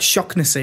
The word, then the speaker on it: Shaughnessy: Shaughnessy. It's like Shocknessy, isn't it? It's like there's a.